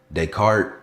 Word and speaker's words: Descartes: It was called oh Descartes. No, not you don't pronounce the S because that's not how you pronounce it. Descartes error.